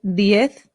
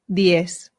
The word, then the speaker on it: diez: This can be pronounced the Spanish way, which is diez, or the Latin American way, which is diez. Both are fine.